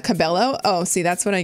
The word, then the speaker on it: Cabello: together whoa hey Barbie it's pronounced Cabello not Cabello oh see that's what